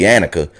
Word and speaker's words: Annika: you it seemed like look like you spell her name Anika but they pronounced it in the movie Annika so Annika is the